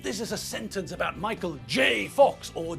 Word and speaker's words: Michael J. Fox: It's Michael J. Fox, not Michael G. Fox.